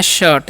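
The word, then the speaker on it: shirt: थर्ड ठीक है और इसे हम लोग पढ़ते हैं शर्ट यानी कि यहां पर आई का चन अ होता है सभी में तो डॉट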